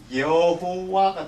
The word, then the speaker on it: 여호와: 요드, 해, 바브에다가 이 모음을 껴서 붙이니까 이 발음이 어떻게 되냐면 여호와가 됩니다.